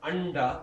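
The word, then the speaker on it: अण्ड: Like this word anda means egg, like brahmanda. So anda is with a da. So if you say the da, you will have no choice but to pronounce this as a na. Because your tongue again is lazy. So it's there anyway, it'll say the right na, anda. If you don't even try, say anda, you're saying this na, na.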